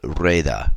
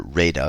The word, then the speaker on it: Rueda: choice, the region called Rueda, or Rueda if I'm using a little more English pronunciation.